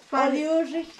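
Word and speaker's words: Padiuxi: Padioshi.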